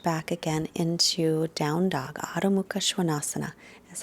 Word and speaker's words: Adho Mukha Svanasana: Adho Mukha Svanasana is how it's pronounced in Sanskrit.